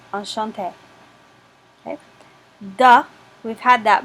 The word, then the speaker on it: enchanté: And notice there's a spelling difference for masculine with one E versus feminine with two E's, but they're pronounced exactly the same, enchanté.